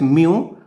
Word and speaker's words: mu: index refractive index symbolically it is mu m e w pronounce it as mu or in some books